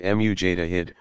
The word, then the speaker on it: mujtahid: Pronounced mujtahid, one who exercises independent investigation of the sacred sources.